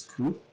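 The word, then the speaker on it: 九: Yeah, pain, suffering, or anguish, because it has possible pronunciation in Japanese is ku.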